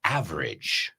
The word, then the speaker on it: average: Ok, cuidado con la pronunciación. Percentage. Percentage. No age, pero age. Percentage. Eso es. Con lo mismo que average.